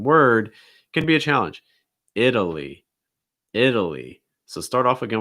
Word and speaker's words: Italy: lee lee italy italy so it's not italia it's not italy it's not italy it's italy italy uh our next one